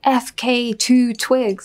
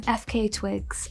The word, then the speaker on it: FKA twigs: Campbell inted me but she said my name wrong and she said tonight performing we have fk2 Twigs and I was like